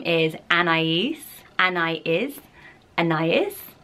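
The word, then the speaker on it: Anaïs: way I like it anyway the name is Anais and I is and is and is and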